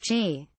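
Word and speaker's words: Qi: 8 support a wireless charging standard called she pronounced G you can recharge their batteries using any wireless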